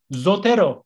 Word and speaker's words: Zotero: öğrencilerimizden bir evet yazıyoruz ya benim işaret konuşuyorlarmış zotero zotero Zeo t o Hero yazıldığı gibi okunuyor ve Açık aslında açık uçlu şey açık